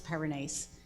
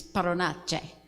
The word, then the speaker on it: Perinace: I've spoken a couple times tonight, and I've always introduced myself as Perinace, but the actual pronunciation of my name is Paronace.